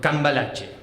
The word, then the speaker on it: Cambalache: like a year ago um so yeah so calache that's how it's pronounced I'm sorry I know it's a little